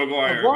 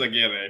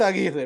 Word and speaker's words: Aguirre: Aguirre, and everyone just called him Aguirre. I'm like, but we've evolved as a society. This kid's name is Aguirre. We're not calling him Aguirre. It's Aguirre, bro. It's Aguirre. Raul Aguirre. I'm gonna say it like that, like a true Cuban says it.